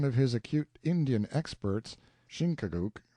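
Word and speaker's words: Chingachgook: his acute Indian experts shinuk pronounced Chicago I think has lost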